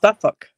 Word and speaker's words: Suffolk: Suffolk.